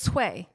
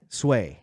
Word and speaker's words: Tsway: for me again it's sway sway yeah so like it is kind of sound like suede it's spell sway but